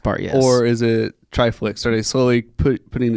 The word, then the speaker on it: Triflix: somebody asked me today how you pronounce triflex which I I've had a couple people really botch all two syllables I don't get it I mean it's like it's like Netflix it's like and he's one